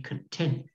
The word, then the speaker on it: content: To be happy in your life is to be content with a t, not a d. There's a big difference.